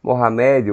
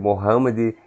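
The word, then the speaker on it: Muhammad: Pode pronunciar Mohamed ou Mohammed.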